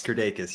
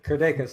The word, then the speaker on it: Kirdeikis: Is it Kirdeikis? Is that how you pronounce it? You're probably the closest pronunciation on the first go around of anyone that I've heard. So yeah, it's Kirdeikis. You got it. Kirdeikis, awesome.